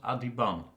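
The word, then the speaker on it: Adhiban: I'm also being told that Adiban should be pronounced Adiban. Ben as in bun.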